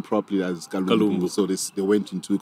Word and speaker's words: Kalumbu: Then I think somebody made a mention that they couldn't pronounce my name properly as Kalumbu, so they went into Colombo.